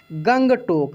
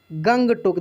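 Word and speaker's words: Gangtok: गंगटोक। कहाँ है? गंगटोक। देखिए GANG, तो गंग, TOK, तो टोक, गंगटोक। बहुत सारा ऐसा नाम है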